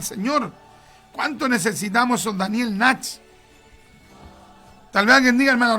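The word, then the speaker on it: Nash: Daniel Natch. Daniel Natch. Daniel, como se pronuncia, se escribe. Natch se escribe así, N-A-S-H. N-A-S-H.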